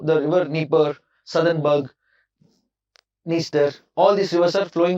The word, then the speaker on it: Dniester: It is pronounced as Dniester.